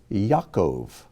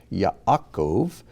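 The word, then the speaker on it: יעקב: or joseph this is yaakov or jacob ya akov is how you would pronounce it slowly ya'akov but when we say it we usually say it so quickly just comes out yaakov yaakov torah torah these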